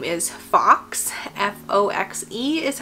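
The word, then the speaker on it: Foxe: His name is Fox, F-O-X-E is how we decided to spell it.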